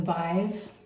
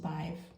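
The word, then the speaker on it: Badb: This is the Bive. It looks like B-A-D-B, pronounced Bive.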